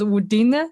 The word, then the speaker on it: Udine: It's called Udine. Is that how is it pronounced? Udine, Yeah, yes.